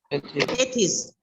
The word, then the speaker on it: Tethys: टेथिस. टेथिस का spelling है TETHYS.